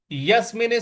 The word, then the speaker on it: यस्मिन: अगला पद है यस्मिनस्थितो यस्मिन स्थितो यहां पे यस पे हमको बल लगाना है यस्मिन यसिनस्थितो और मिन